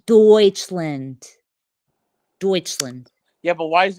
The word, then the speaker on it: Deutschland: And speaking of Germany, can I just say, why is Deutschland called Deutschland when there's already a Dutch land? Huh? It's Deutschland.